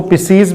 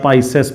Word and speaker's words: Pisces: Chordata का super class जिसको पिसीज भी बोलते हैं, मैं आपको सुपर क्लास पिसीज या पाइसेस पढ़ाऊंगा। अलग अलग प्रोनाउंसिएशन इसका है, ठीक है।